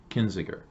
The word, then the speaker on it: Kinzinger: Representative Adam Kinzinger.